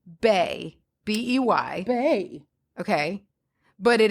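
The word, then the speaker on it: beithe: So the Gaelic word for birch is pronounced bay, B-E-Y.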